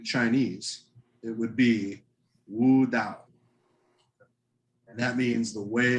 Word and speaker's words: Tao: symbols one symbol is called or you it's it's spelled t-a-o you would say tau but it's out with a d that's how it's pronounced yeah and you've heard of taoism right that is dao is the way okay so you guys watch